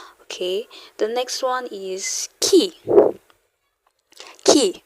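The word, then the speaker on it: qui: the next one is key key remember Q sounds like a k not don't let the English um sound enter your mouth okay key like a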